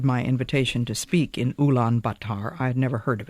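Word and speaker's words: Ulaanbaatar: afternoon, we were met at the station of Oolan Batar. I must confess that until I received my invitation to speak in Ulan Batar, I had never heard of it.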